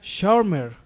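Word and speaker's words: Schwärmer: Y Lutero los llamó de una manera muy interesante, como es una palabra alemana, ¿verdad?, que se pronuncia de la siguiente manera, sharmer o que quiere decir extremistas de ojos salvajes, ¿no?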